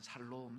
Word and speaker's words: 샬롬: 근데 한국에서 이게 들어와서 경상도 분들이 야 발음이 잘 안 되잖아요. 그래서 어떻게 인사하냐면 살롬 살롬 해요.